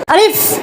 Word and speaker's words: আলিফ: জি তাহলে আমরা কি তাড়াতাড়ি উচ্চারণ করবো না মাদ্র সহ উচ্চারণ করবো তাড়াতাড়ি আলিফ আলিফ আলিফ আলিফ জোরে